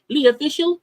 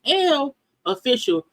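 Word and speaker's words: L'Officiel: Is it Lee Official? How's it pronounced? It's L Official, the Paris version.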